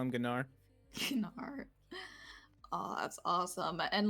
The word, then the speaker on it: Gnar: and nar was released i didn't know how to pronounce gnar i remember specifically calling it gennar oh yo i used